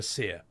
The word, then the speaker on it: Cyr: Well, How about Seer? Do you know the streamer Seer?